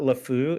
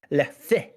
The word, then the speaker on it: le feu: It's not le fou, it's le feu. Probably pronounced more like leffe.